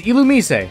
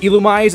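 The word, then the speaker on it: Illumise: always a great source this Pokemon is ilum some people would pronounce it ilumi and looking at its name origin that would make more sense that last part comes from this word pronounced luciferase but I guess ilum just sounded more neat this guy's an often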